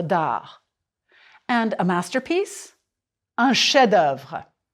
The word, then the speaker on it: chef-d'œuvre: And a masterpiece, un chef-d'œuvre. Prononcez, s'il vous plaît. And remember the old technique of drawing a line through an unpronounced letter? Chef-d'œuvre.